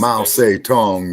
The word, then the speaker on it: Mao Zedong: Mao Zedong is the correct pronunciation. Mao Zedong.